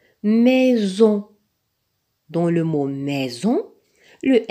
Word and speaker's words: maison: Regardons maintenant ensemble des mots dont le S se prononce Z. Maison, maison. Dans le mot maison, le S est placé entre un I et un O.